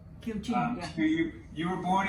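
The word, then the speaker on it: Kiều Chinh: Can you give the correct pronunciation of your name? I just want to make Oh, sure. yeah. I got it. Kieu Chinh. Kieu Kieu Chinh. Kieu Chinh. Kieu Chinh, yeah.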